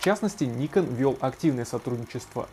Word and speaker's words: Nikon: Кстати, по-японски название компании правильно произносится как Nikon. На Западе говорят Nikon, ну а в России мы привыкли к собственному варианту произношения Nikon.